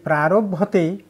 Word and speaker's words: প্রারভ্যতে: তাহলে এইখানে এই প্রারভ্যতে বাংলা উচ্চারণ এখানে করতে গিয়ে উচ্চারণ করলাম যে প্রারভীয়তে, অর্থাৎ এইখানকার যে জফলাটা যে আছে, এই জফলা এইটার সঙ্গে এটা হলো স্বস্তি, মানে স্বস্তি বাসন।